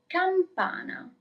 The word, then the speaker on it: campana: Bell is campana. Campana. Do not forget the M.